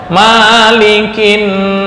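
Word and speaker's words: مَلِكِ: di surat An-Nas, atau boleh nggak kita kiaskan mengikuti di surat Al-Fatihah dibaca panjang, Malikin Nas, nggak bisa. Itu yang disebut dalam ilmu qiraat dengan farsyul kalimah. Arti sama, tapi cara membacanya berbeda. Maliki yaumiddin, yang merajai, yang menguasai hari pembalasan.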